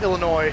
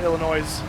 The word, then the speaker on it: Illinois: Just uh heads up, it's Illinois, not Illinois. The S is silent.